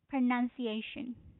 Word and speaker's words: pronunciation: But but this word is spelled this way. pronunciation, right?